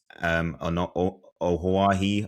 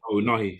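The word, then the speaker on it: Ounahi: fitness, with Brahim Diaz, Ohawahi, I think is how you pronounce his name, who had a great World Cup in 2022, I think. Oh, Nahi. That's it, in midfield.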